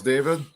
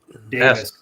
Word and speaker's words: Davis: Isn't his name Miles David? Davis. S, not a D.